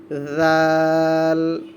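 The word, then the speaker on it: ذال: এটার নাম হয়ে যাবে জাল। নরম করে পড়বেন। জাল, জিব্বার আগা সামনের দাঁতের আগার সাথে লাগিয়ে, জিব্বার আগাটা সামনের দাঁতের আগার সাথে লাগিয়ে নরম করে উচ্চারণ করা হবে। জাল, জাল, জাল, জাল।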